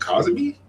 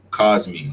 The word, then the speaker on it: Cosmi: Co, is it Cosby? Cos Cosmi.